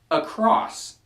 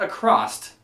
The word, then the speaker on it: across: from okay so now number three across not across I'm going to go across the street I don't know where that t came from I get the